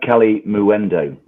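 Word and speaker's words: Kalimuendo: Maybe ano cali muendo. There's a u in there. Yeah, there is. Arno calim calimu endo. It rhymes with innuendo.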